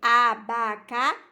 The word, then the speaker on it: abacaxi: temos aí quatro sílabas nós temos a última sílaba que a mais forte que é qual xi abacaxi ia mais forte então nós temos a